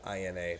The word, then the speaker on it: Celina: down the road here, there's a Salina, but it's spelled Celina, but pronounced the same exact way.